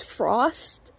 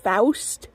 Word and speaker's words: Faust: the name was, and people's first thought is that her name was Frost, and so I would usually have to correct it. The name is technically pronounced Faust, but they would then